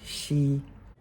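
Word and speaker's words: 昔: It's also a surname, pronounced she.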